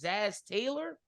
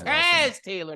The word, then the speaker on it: Taz Taylor: think his name is Zaz Taylor. I think that's how you put, or I think that's how you say his name. Zaz. I think it's Taz. Oh, Taz Taylor, not Zaz.